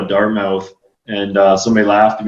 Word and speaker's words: Dartmouth: dark is it do I say it right Dart myth am I supposed to say it like that or no yeah Dartmouth I think uh when they started talking to